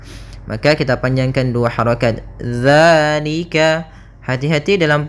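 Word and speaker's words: ذٰلِكَ: Dzalika. Hati-hati dalam pelafalan ya. Hati-hati dalam pelafalan dzal. Jangan dibaca dengan zai. Jangan zalika. Bukan. Dia bukan huruf dza. Bukan dengan bacaan zai. Di sini tidak dibaca dengan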